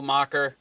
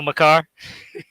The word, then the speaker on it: Makar: So some of the stars, obviously, Colorado, Kyle Macher, uh, Kyle Makar, and I think you froze. Makar.